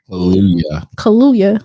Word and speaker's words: Kaluuya: Kaluuya.